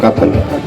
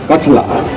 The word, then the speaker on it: कठला: अच्छा नहीं, स्कूल का नाम काथल कठला, अच्छा जो स्पेलिंग गलती लिखी ना, इसको ठीक करना चाहिए। कठला है और एक जो है